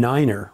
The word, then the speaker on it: niner: point instead of decimal some numbers are pronounced a little strangely to make them more distinct tree rather than three four rather than four and niner rather than simply nine zero is always zero